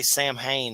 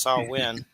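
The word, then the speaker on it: Samhain: some creepy saw win I always say sam Hayne that's not how you say it it's saw win Sam Hayne I'm from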